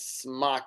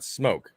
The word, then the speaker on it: SMOK: First off, what's a mod and why the fuck is smock in there? Smock or smoke? It's smoke. It's just called, that's the name of the company is Smoke.